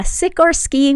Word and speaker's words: Sikorski: I mean, it's spelled like it sounds, but Yeah, Sikorski without the C.